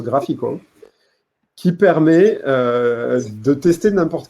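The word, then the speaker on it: GraphiQL: GraphQL, je pense que ça se prononce Graphical, qui permet de tester n'importe quelle query, n'importe quelle requête.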